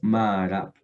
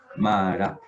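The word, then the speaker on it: מערב: Porque ahí se alargó una A. Dijiste la A de acá y la A de acá. Marab. ¿Listo? Esta es la forma en que se dice en el hebreo moderno, la primera que vemos acá.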